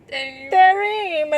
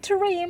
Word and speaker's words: Tehreem: Her name is Tehreem, and that's how we pronounce it, folks. Not Tareem, like all her other friends pronounce it.